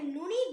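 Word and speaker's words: نون: நூன நாக்கோட நுனி மேல் பற்களோட ஈருக்கு கொஞ்சம் உள்ள இருந்து சொல்லணும்.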